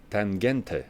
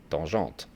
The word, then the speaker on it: Tangente: Then something different, a Nomus Tangente. I think they pronounce it like that. With my French accent, I would say Tangente.